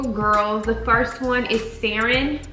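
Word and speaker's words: Saryn: the first one is sarin um s-a-r-y-n i believe that's how you say it um the egyptian origin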